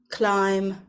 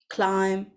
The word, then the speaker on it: climb: word you know that the B is silent and we don't pronounce it let's have a look